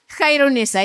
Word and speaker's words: Khyrunnisa: No, my name is Khairunisa. Khairunisa. So maybe you can clear your throat and then say Khairunisa. It's not easy to say. It's not easy to pronounce.